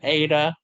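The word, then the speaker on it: eta: towel Ada Sigma okay what sound does an ADA make sure it'll be like a to a it only makes sense a that is literally the sound it makes a it doesn't make sounds like the letter A it just makes a that's the only sound it makes by itself as far as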